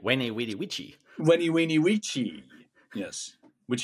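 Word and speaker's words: veni, vidi, vici: V or a W. Wene, weeny, witchy.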